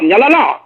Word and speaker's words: Nyala: Donc Niala, ça s'écrit Nyala.